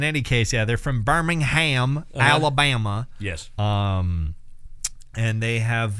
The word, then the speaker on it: Birmingham: So if you don't know about ERRA, ERRA is an American progressive metalcore band from Birmingham, Alabama, or BirmingHAM if you're American.